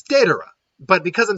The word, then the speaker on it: datura: is the fact that the day part I'm pronouncing is sounding more like a DA but I'm saying datura so yeah it's de Dora but because I'm saying at all one maybe